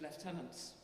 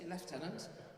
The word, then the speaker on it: lieutenant: Unfortunately, we have to go to the American pronunciation of lieutenant. We say lieutenant, and you know they say lieutenant. But actually, the derivation is very much in that term. Lieutenant. I am in lieu of the tenant.